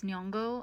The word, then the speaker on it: Nyong'o: This black Helen of Troy lady, Lupita Nyong'o, I'm probably saying that wrong. I'm probably So, you literally said it right. It's Nyong'o.